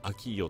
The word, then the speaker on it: AKEEYO: AKEEYO と書いてアキーヨと呼ぶそうです。